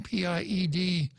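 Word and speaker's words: pied-noir: It looks like pied noir, if you see it in writing, Piednoir.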